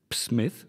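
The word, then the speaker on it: Psmith: both have names that begin with the same silent letter which letter P yes as in Smith or Smith and the semi ad what is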